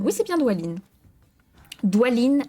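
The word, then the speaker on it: Dwalin: s'inclinant profondément, attendez, il faut pas que je prononce mal, hein. Non, c'est Douine. Oui, c'est bien Doualine.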